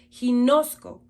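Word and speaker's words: γινώσκω: Esta palabra es del Strong griego 1097 y se pronuncia ginosco.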